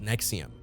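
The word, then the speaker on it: NXIVM: was The Mastermind behind NX IVM pronounced Nexium a supposed self-help group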